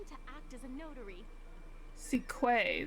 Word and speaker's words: Sequay: Sequay, that's how you say her name? Quay.